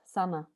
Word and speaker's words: Sanne: My name sounds like Anna with an S, Sanna.